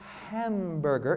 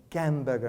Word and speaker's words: hamburger: say that again and pronounce it hamburger instead of gam burger and she said excuse